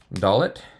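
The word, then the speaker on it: דלת: oh turn page okay dollet is a d with or without the doggish uh that used to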